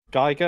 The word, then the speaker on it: Giger: my a levels um i geiger or giga depending on how you decide to pronounce his name and he was my